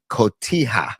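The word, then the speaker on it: cotija: There's also one other ingredient which is a me Mexican cheese called Kotiah. Kotia cheese is also included on this in your spell it for me so I can jot it down.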